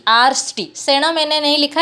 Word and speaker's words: आर्ष्टि: तो आर यहाँ देखिए, आर्ष्टि आर्ष्टि उच्चारण करने में एक एक्स्ट्रा रू आपको हमको सुनाई देता है, आर्ष्टिशेण। तो यहाँ पे जो ऋ है, तो ये रू स्वरभक्ति का ऋ है, और लिखेंगे पर